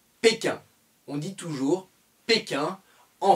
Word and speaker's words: Pékin: On ne dit pas bating, on dit péquin.